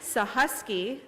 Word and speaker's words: Sahusky: Sahusky, that's how you pronounce it, Sahusky.